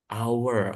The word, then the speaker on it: hour: Jadi, cara bacanya adalah our. Jadi, ada our gitu kayak ada our. Nah, jadi karena cara bacanya bukan H, bukan H, tapi pakai a i W O, pakai hour.